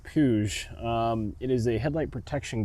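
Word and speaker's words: Puig: I believe you pronounce it Puge.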